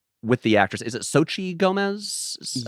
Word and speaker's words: Xochitl Gomez: Is it Xochitl Gomez?